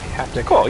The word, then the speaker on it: haptic: what is it yeah haptic is it is that how you say it yeah like uh half like happen and tick like dick haptic yeah so yeah have